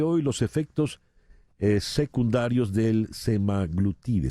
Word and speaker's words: semaglutide: los efectos secundarios del semaglutide se pronuncia así floral semaglutide en inglés y en español le dicen semaglutida semaglutida Qué es la